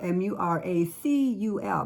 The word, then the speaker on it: Muracul: And Muracul is spelled M-U-R-A-C-U-L, Muracul.